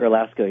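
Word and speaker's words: Garlasco: Well, and that's actually part of the narrative of your story is this guy, Mark, help me pronounce his last name. Mark Erlasko, yeah.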